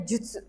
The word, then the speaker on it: 術: Kanji ini dibacanya juts kagebo juts gitu ya.